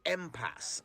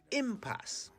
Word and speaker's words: impasse: for the day impasse i've heard people say empass ampas ampas but it's impasse it's not clear where these alternative pronunciations come from but there is only one correct way of saying it impasse i m p a